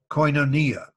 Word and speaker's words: koinonia: The word communion in the New Testament comes from a Greek word pronounced koinonia.